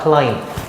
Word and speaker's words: climb: It is hard to climb. 이제 climb은 요 뒤에 있는 B는 묵음이에요.